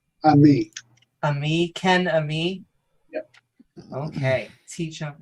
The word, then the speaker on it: Ammi: um is it how is your last name pronounced Ami Ami Ken Ami okay tump and Ken me